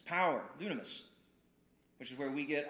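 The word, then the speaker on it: δύναμις: word for power and he's like well it's dunamis and it's spelled d-y-n-a-m-i-s is how we would you know transliterate transliterated it's power dunamis which is where we get our word dynamite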